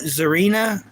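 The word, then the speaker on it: Tsareena: So they call it Zarina, but it's spelt like similar to Teresa, but they call it Zarina.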